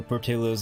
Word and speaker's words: Portillo's: You just saw there was a Portillo's over there, too. Or Portillo's, actually, that's how you pronounce it.